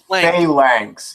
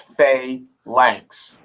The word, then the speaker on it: phalanx: Fa, as in, fuck you! It's pronounced phalanx. It's pronounced phalanx. There's very few things in this world that are pronounced correctly. That's one of them.